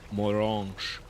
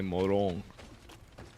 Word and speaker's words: Morange: Go save Lady Morange. I keep wanting to say Morang, but then every time that they say her name, actually, they say Morong.